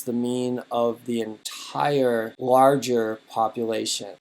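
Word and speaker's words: μ: and a u together it's pronounced me kind of like M and U it's actually a Greek letter and you write it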